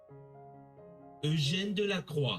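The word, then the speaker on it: Eugène Delacroix: Eugene Delacroix. Eugene Delacroix.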